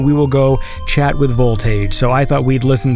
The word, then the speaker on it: Volt Age: will be chatting with Voltage. So this is Voltage with Starflight. right. Well, I am here right now with Volt Age. Is that how you say it? Yes, that's right.